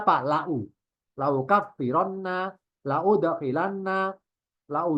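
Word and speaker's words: لو: Lau bacanya lau. Lama li pada hamzanya bacanya lau. Tidak liu, tidak lia.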